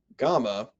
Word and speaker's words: gamma: the b in bible gamma sounds like the g in english as in gone delta sounds like the